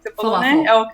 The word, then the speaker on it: falafel: So, that's how you say it, "falafel"? -Falafel, yes.